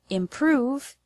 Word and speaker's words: improve: The word improve has the stress on the second syllable, prove.